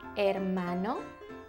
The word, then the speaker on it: hermano: Un hermano? Or a sister, una hermana. Brother and sister in Spanish is hermano y hermana. It starts with an H, but you don't really pronounce the H.